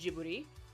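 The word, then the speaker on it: Ghibli: why I really like jubby movies you know or gibli films as some people pronounce them in Japan they're pronounced jii you know being not just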